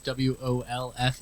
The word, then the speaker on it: Wolfe: My last name is W O L F E, but it's pronounced wolf.